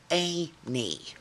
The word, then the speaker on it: Auntie: now and it's not it's spelled auntie but it's pronounced a knee so you'll see i